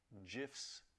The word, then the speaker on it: GIF: they're sharing you know gifs with us soft G folks it's a soft G I just I just